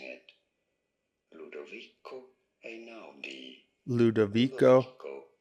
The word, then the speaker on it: Ludovico: How do you go about pronouncing it? Ludovico Einaudi. Ludovico Einaudi.